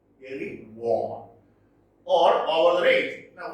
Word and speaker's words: Erewhon: It is pronounced Erewhon. Erewhon.